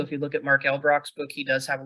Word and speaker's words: Elbroch: It's Mark Elbrock. It's ELBROCH. Right. Not Yeah. Elbrock, like it's spelled.